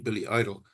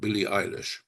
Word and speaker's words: Billie Eilish: And she said, no, he doesn't even know how to pronounce the artist. I said, what do you mean, Billy Idol? And she said, no, it's called Billie Eilish.